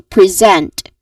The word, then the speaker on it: present: the first word here as you've noticed um the spelling is letter S right but here the sound is uh the sound it creates is a buzzing sound which is the letter Z sound which is a voiced sound.